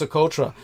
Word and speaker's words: Socotra: What's interesting is that Socotra Island, it's pronounced Socotra. It's definitely Socotra.